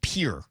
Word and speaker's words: Pierre: It's Pier, not Pierre. Like for my whole life, you have to learn capitals, right? I always thought it was Pierre. It's Pier. Yeah, it's pure. Yeah. So, kind of one syllable.